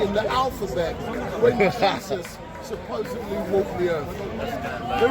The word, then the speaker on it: Jesus: will know, is that the J is pronounced as a Y in Latin. And so Yehoshua in Hebrew becomes Jesus in Latin. And then in English we pronounce the J with a strong sound, and rather than saying Jesus we say Jesus.